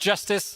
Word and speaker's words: Jstz: So it's written JST pronounced justice and it's called justice for all because we